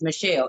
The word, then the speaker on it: Michelle: I'm like, it's Michelle. It ain't hard, bang. It's not. It's not hard. It's Michelle. It's 2 syllables, boo. Michelle.